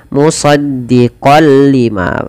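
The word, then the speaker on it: مُصَدِّقًا لِّمَا: Idgham itu pada dasarnya adalah memasukkan tanwin atau suara nun sukun kepada huruf setelahnya, dan di sini kita masukkan kepada huruf lam. Musaddiqal lima. Awalnya dibaca musaddiqal lima karena bertemu lam, masuk tanwinnya kepada lam, nunnya hilang. Musaddiqal lima tanpa ditahan.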